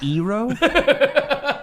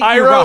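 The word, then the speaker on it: Iroh: first of all it's eero it's actually iro is my favorite character in that show you're making it sound like the h is silent it's ira in all seriousness right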